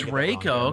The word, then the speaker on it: Reiko: excited Rico or Rico Reiko I'm going with Rico it's pronounced Reiko is it Raco yes it is oh it's Reiko okay I think I've been saying like an